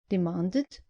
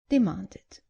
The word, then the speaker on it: demanded: Just make sure you pronounce the e clearly. So, not invited, but invited. And not demanded, but demanded. Right then, that's all for this lesson.